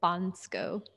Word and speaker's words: Bansko: I say Bansko, but it's like Bansko.